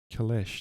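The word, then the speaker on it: calèche: Kaleche? Is it Kaleche? Kalesh, that's better. It is Kalesh.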